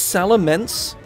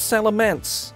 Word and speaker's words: Salamence: goes wait salam salamance is spelt with an e it's salamence i hate that that's awful what it's salamance everyone under the sun pronounces it salamance it's not salamence also it's dead i